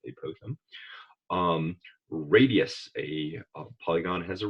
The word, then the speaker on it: apophthegm: Apophthegms, which we learn about a whole lot later, and my colleagues will tell me it's pronounced apothegm.